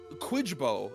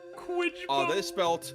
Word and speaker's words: Kwyjibo: And the final K word is Quidbo, is a word made up by Bart during a game of Scrabble with his family. Quidbo.